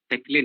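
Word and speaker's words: Péclet: So this product is called as Peclet number. Peclet number. Peclet number. The T is silent there.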